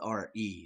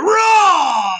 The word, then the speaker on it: Ra: It's spelled R-E, should be Re. The Egyptians actually pronounced it Ra, the sun god.